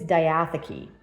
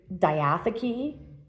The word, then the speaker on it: diatheke: I think it's diatheke is how you pronounce it.